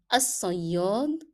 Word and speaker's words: الصياد: Okay, you can see here that I'm putting a cross below lam to remind you that this lam is not pronounced in the word because it is followed by a shadda letter.